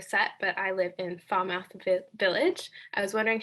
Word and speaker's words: Falmouth: distinct identity of west foul mouth um i never looked at the other parts of foul mouse that way i'm not sure if i'm pronouncing that correctly but yeah they say falmouth we see yourself yeah